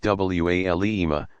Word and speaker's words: walima: A reception called a walima, pronounced walima, follows weddings nearly everywhere.